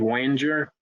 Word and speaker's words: Wenger: with what he's doing his name is david wenger kind of rhymes with ranger and he's not a